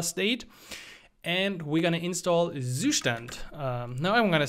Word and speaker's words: Zustand: add another Library called Zoo stand uh I guess that's how you would pronounce it if you're an English-speaking country I from Germany would say sustan because this actually means state in German this is a German